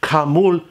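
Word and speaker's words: כרמל: The word Carmel itself, pronounced in Hebrew, Carmul in Hebrew, means garden or orchard.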